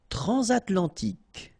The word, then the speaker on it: transatlantique: Transatlantique. Okay, so at the end, tic.